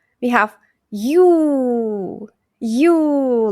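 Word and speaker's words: ю: end y plus o plus o we have yu yu like the word you. yu yu famous name Yulia Yulia yu And the most important letter in Russian is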